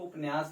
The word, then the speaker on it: उपन्यास: ठीक है, दूसरी बात ये है कि पंडित गौरीदत्त उपन्यास, इसको उपन्यास भी कह सकते हैं उच्चारण में। उपन्यास हम लोगों का यहाँ इधर होता है, बाकी उपन्यास शुद्ध उच्चारण है।